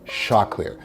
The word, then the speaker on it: Choclair: I know it's spelled like chocolate, but it's Choclair.